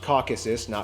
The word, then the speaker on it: Caucasus: Armenia is a landlocked Nation located in the Caucasus region of Eurasia by the way it's pronounced Caucasus okay caucuses when a ton of politicians make